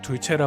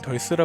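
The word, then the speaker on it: Dulce: 스페인어 지명으로 둘체라 발음하고 영어로는 덜스라 불리는 작은 마을이 있습니다.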